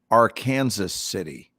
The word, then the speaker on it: Arkansas City: you look at it what it says is arkansas city only it's pronounced our kansas city it is our kansas